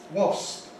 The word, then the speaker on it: wasp: Wasp, wasp. Again, one syllable, wasp, wasp.